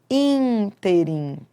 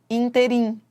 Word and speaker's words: ínterim: Por exemplo, há pessoas que equivocadamente falam interim. Ah, no interim. Não, não é no interim. Se fosse interim, ela seria oxítona. Interim.